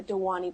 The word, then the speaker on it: Dhvani: So the V is pronounced like a W, so Dhvani. Dhvani.